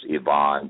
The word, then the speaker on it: Ivan: It's standalone, but it's Dr. D space Yvonne, but it's spelled like Ivan.